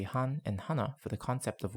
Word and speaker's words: 하나: The Koreans also say han and hana for the concept of 1, but they are not strictly tied to this character.